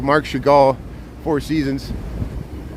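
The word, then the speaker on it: Chagall: hour long thing where I kept saying shaval instead of shagal close but no cigar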